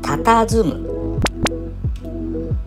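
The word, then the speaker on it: 佇む: 正解は、たたずむ。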